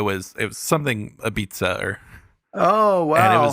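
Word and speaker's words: apizza: Um but it apparently it's pronounced beats-a.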